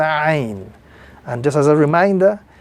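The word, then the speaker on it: ع: This letter appearing on the screen is the letter Ain. And just as a reminder, this letter, when pronounced, must be pronounced with a little more emphasis. Ain.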